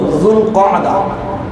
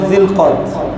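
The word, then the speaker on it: ذو القعدة: এরপর হলো যুলকআদা, আমরা বলি জিলকদ, এটা সঠিক উচ্চারণ নয়, কোনোভাবে মিলে না। যদি জি কদা বলেন তাও কিছুটা আরবি গ্রামাটিক্যাল হিসাবে মিলে, কিন্তু জিলকদ কোনোভাবেই মিলে না।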